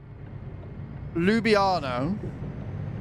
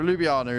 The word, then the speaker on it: Ljubljana: Yep, that pronunciation. Ljubljana. There you go, Ljubljana is where we're heading to.